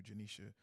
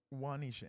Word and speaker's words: Juanisha: want to get to janisha uh i'm sorry i'm sorry i think i've been saying your name wrong juanisha anderson she's got a